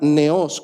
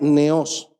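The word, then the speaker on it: νέος: griego la palabra original es la palabra neos con acento en la e palabra griega neos hay un postulado hermenéutico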